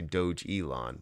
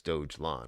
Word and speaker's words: Dogelon: it dogelawn so okay i was gonna say doge elon but it's dogelon where's twitter at dojo